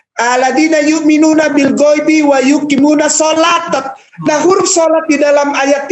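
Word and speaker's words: صلاة: tamah artinya selesai shalawat itu dibacanya sebetulnya bukan salah waktu tapi shalat karena apa Karena kita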